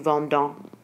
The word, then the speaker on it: vendons: Notice that you don't pronounce the de with the je vends, tu vends, but you do pronounce it with nous vendons and vous vendez, and il and elle vendent. But you don't pronounce the E and T.